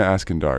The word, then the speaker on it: Iskandar: sounds good alright so Nina make sure I pronounced your name correctly it's Nina asking door is that correct ask and I okay yeah